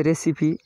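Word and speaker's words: recipe: है, simile, रेसिपी, ये रेसिपी, सही उच्चारण रेसिपी। पाक विद्या, भोजन बनाने की जो विधि है, कला है, उसको रेसिपी बोलते हैं। Finale, FINALE, finale. इन 3 वर्डों में ई उच्चारण दे रहा है।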